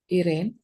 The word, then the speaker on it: Iren: What is it supposed to be pronounced? Irene? It's Iren, ma'am.